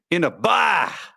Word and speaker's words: Inaba: Emphasis on the second syllable. Oh, geez. That's not how we do it in Wisconsin. Inaba.